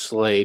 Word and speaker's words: SLA: SLA, pronounced slay, means an Old Norse word meaning kill. SLA, slay, is an Old Norse word meaning kill.